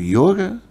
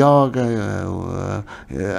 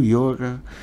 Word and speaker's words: yoga: quero aqui reforçar é deve-se pronunciar sempre o yoga porque é uma é uma palavra masculina todas todas as palavras na Índia terminadas em Ação masculinas e por isso porque aqui muitas vezes pronuncia say yoga abrem mais e pronunciou como feminino tá errado portanto aqui quero realmente